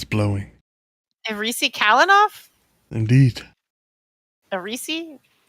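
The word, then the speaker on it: Aerisi: the risi kalinoff indeed arisi like a Reese's cup like the little candies okay the name is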